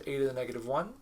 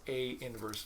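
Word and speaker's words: A⁻¹: said to have inverse denoted that notation is pronounced a inverse you don't write it at you don't say it as a to the negative one it does not mean the reciprocal of a it means a inverse just like if you ever had a function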